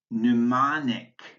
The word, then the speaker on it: mnemonic: The M is silent in mnemonic.